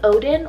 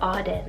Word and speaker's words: Auden: Next is another A name, and that's the name Odin or Auden. It's spelled A-U-D-E-N, depending on how you pronounce it wherever you may be.